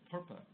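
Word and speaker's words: PURPA: that had a horrible acronym some people think rhymes with verp it's called perpa so perpa uh said among many other things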